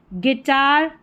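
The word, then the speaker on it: guitar: number 35 पर है जी यू इसको ग करके प्रोनाउंस करेंगे जी यू इसको ग तो जैसे गेस्ट गाइड गेस्ट और यह है गिटार गार्ड क्या है गिटार जी यू को ग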